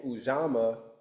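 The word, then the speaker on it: Ujamaa: Each day you have a specific principle and those are called the indubu saba the seven principles and ujama.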